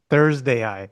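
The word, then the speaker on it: ThursdAI: How do I pronounce Thursday. this? Thursday Thursday, yeah. Thursday AI.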